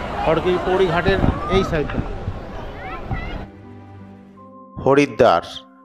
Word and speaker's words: হরিদ্বার: পৌরী ঘাটের এই সাইডে হরিদ্বার যার স্থানীয় উচ্চারণ হরদার ভারতের উত্তরাখন্ডের হরিদ্রার জেলার